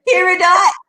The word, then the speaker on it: Peridot: It looks like it's spelled period. Period. No, that's about to do that. Period. All right. I need a You there. Peridot.